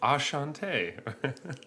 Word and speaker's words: Enchanté: There's an accent, and it's spelled weird. It actually it says Ashante.